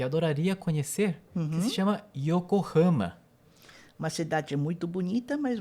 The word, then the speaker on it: Yokohama: Então não é Yokohama, mas é Yokohama.